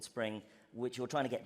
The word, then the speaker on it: Xspring: It's spelt with an X, but it's called Spring, which you're trying to get developers onto it.